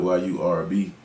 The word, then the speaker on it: Yurb: But I spell it Y-U-R-B because of the sound, and then I do R&B music, so that's where the R&B came at the end.